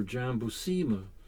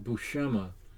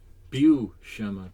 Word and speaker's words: Buscema: what i used to say jambu shima or jambusima the actual pronunciation is john is uh bushema bu shema bushema and i found out because of an